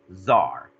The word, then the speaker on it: czar: czar is funny because it could be spelled with a c or like on the handout how do i spell the word czar with the t either way it's actually still pronounced czar so the tsar the